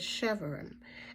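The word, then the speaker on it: shevarim: summons or awaken now the next one is Chevron and that's s-h-e-v-a-r-i-m now let me get that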